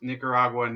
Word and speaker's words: Nicaragua: on Venezuela he lost me the moment he pronounced Nicaraguan ego wah wah wah it's Nicaragua what do